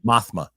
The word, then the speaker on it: Mothma: her, "Wait, what's the I every time I pronounce this wrong and nobody corrects me. Marmoth Marmothma Man O man monothman Mothma Mothma.